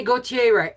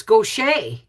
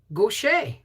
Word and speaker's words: Gautier: in is it slidell and did i say gautier it's it's gaucher the way it's pronounced really gaucher really some parts still no power i'm almost